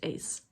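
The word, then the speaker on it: Uys: she spelled u-y-s and i saw on her website that it's pronounced ace she's living in the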